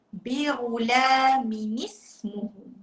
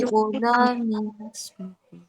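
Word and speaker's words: بِغُلَامٍ اسْمُهُ: Buang satu baris dekat huruf mim, tambah huruf nun selepas huruf mim tu, bariskan di bawah. Jadi cara baca dia bi'ulaminismuhu.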